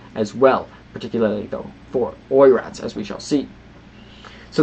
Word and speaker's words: Oirat: Nonetheless, I believe pronunciation is Oirat, Mongol origin.